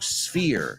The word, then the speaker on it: sphere: Remember, in English, that word doesn't have an E at the beginning. It's not sphere. Y se escribe con PH, no con F. So, sphere, sphere. Es como la palabra fear, miedo, pero con S delante. Sphere.